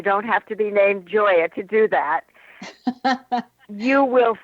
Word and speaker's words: Gioia: And I want to spell your last name for everyone because it's pronounced Joya, but it's spelled G I O I A.